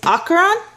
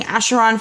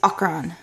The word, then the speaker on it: Acheron: how you pronounce it the um proper pronunciation we learn in this book is ochran but we've been knowing him as ash and people have been saying asheron for so long so i would not be surprised if people still insist on calling the sacharon but the pronunciation we have learned is akron and then we have